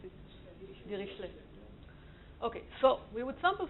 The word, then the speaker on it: Dirichlet: So how would the French pronounce it? Dirichlet.